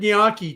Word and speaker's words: gnocchi: Gnocchi. Okay, so that's how I pronounce it. But although I've heard it gnocchi too. He puts the Y in there a little bit, gnocchi, right?